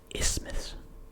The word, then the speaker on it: isthmus: You're not pronouncing the TH. At least I would. I don't think you'd be pronouncing the TH in that. Isthmus. Isthmus. No, it's just isthmus. Isthmus. You actually want it to basically be less pronounced. That makes it sound more natural.